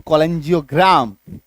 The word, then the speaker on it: cholangiogram: CH plus OL अगर किसी शब्द में आ रहा है तो ऐसे केस में भी हमारा उच्चारण क्या निकल के आ रहा है, हाँ, ऐसे केस में हमारा उच्चारण क्या निकल के आ रहा है, क, ठीक है।